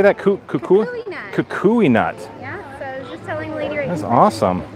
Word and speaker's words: Kukui: Kukui nut.